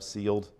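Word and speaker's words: ceiled: C-I-E-L-D, I had to look that up, sealed.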